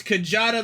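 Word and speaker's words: Kjata: __ ] okay I don't know how to pronounce the goddamn thing it's kajada like this like the eight-legged bull or something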